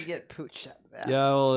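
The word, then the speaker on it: Puig: two on September 18th the P Pooch it's pronounced in Spanish Pooch how get Pooch yeah well it's catalon and that's how you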